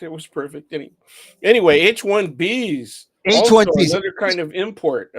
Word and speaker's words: H-1B: to say it right it's H1B it is B H1B Visa B Visa they probably confuse Visa with the V some people some people say hb1 or HV there is a such